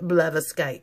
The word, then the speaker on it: blatherskite: r sk i te it pretty much spells just like the sounds or sounds just like the spells my bad I know